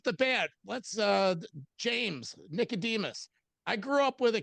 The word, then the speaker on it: Nicodemus: Nicodemus though, you pronounced it properly. That that's not something that a lot of people get correct, but yeah, Nicodemus is is right.